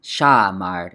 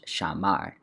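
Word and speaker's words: שמר: And by the way, this is the stress, so it's not shamar, it's shamar, is what that helps you figure out.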